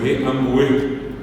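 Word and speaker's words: ambue: Eh, ese señor gordo llevó tres guayaos amarillos anteayer y anteayer se dice ambué. Cueg ambué. Y ambu se escribe a m larga u e sin aco, sin nada, así como están escuchando.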